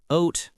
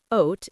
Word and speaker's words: oat: But wait, Ryan, the A in oat is silent, right? You don't say o-at. Perfect, Sophie. It's just oat, like boat or coat.